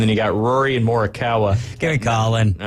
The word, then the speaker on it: Morikawa: Not Morikawa. Morikawa. Pretty easy to pronounce. It sounds just like it sounds.